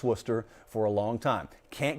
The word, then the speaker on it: Worcester: the worcester centrum so i've known how to pronounce worcester for a long time can't get half the